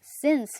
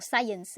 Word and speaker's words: sense: Luego tenemos el caso de sense, que esto se pronuncia sense. Fíjense en los fonemas. No, muchas veces lo escucho como science. Bueno, esa es la ciencia. Science le dicen los alumnos. No, este es sense.